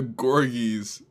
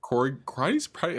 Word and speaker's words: corgi: Yo, thank Jess for the Gorgies. Gorgies. The Okay. corgi.